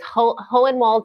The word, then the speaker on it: Hohenwald: Hohenwald, Tennessee. Did I say that right? I'm from Tennessee, and I always get nervous when I try to pronounce Hohenwald. But you have the good German name, Hohenwald.